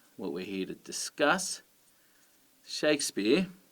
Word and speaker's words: Shakespeare: here to discuss shakespeare you can hear that it's the first syllable that is emphasized shakespeare okay so stressed and unstressed if you did them the other way around they wouldn't sound right shakespeare with the stress on the second one and that's because they're